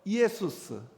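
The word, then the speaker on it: Ἰησοῦς: 그러니까 우리 한번 발음해 봅시다. 예수아. 그게 이제 그리스로 가서 이에수스.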